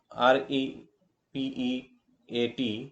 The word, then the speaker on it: repeat: The next one is repeat. R E P E A T repeat. Re is untressed and Pete is press syllable in this example.